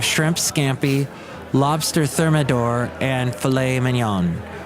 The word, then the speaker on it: filet mignon: scampi Lobster Thermidor and filet mignon or as the British say fillit mignon if we elaborate sorry